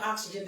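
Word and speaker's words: Oxzgen: Oxygen, not the oxygen that we breathe, but it's oxygen, and it's spelled O-X-Z-G-E-N.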